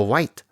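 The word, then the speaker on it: Wight: your beard no a white a spirit it sounds like the color but it's spelled like the island the poor confused thing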